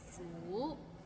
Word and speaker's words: 苦: Maybe it's the second tone that's hard to pronounce. Like 苦. It's kind of like when you ask, is the parking lot full?